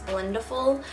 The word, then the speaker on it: Blendiful: I just learned that's how you say it, not Blendiful, it's Blendiful.